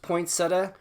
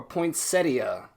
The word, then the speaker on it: poinsettia: it can be pronounced poinsettia or poinsettia. Now, I've always heard it called the poinsettia, but I believe the Midwest call it the poinsettia, so it can be pronounced either way. They're both correct.